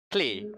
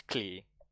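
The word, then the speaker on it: Klei: Clay. It rhymes with play. They put it on their Twitter bio or something. It rhymes with play, so it's Clay.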